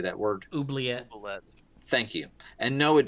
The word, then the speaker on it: Oubliette: It's okay, I'm going to mispronounce it. How do you say that word? Oubliette.